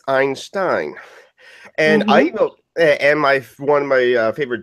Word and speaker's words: Einstein: Yet, whenever someone said Einstein, someone always correct them as Einstein.